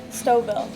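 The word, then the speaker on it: Stouffville: you don't mind me asking how do you pronounce this town stov stov WI stov okay I thought was Stu Phil but my English pronunciation is bit off are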